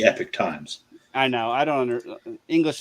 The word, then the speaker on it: Epoch Times: Yeah, it's spelled like Epoch, but they call it the Epic Times.